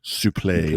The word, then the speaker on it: suplex: I don't understand okay it's French even though it ends with an ex Supply is it spelled